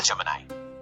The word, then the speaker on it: Gemini: Google Gemini. Is the right pronunciation?